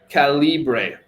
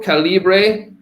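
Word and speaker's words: Calibre: been around it's called calibra just Google calibra book converter or calibra it's like caliber but Cali can you spell that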